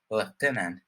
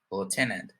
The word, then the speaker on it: lieutenant: in the united kingdom in british english it's pronouncing lieutenant and and in america you'll hear lieutenant all right i love